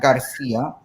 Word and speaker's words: Garcia: The proper pronunciation. Yeah, it's Garcia.